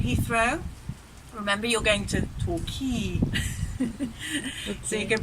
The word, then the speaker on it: Torquay: sounds together you and the stress on the second syllable so if you're coming here you fly into the UK and Heathrow remember you're going to talk key so you can pronounce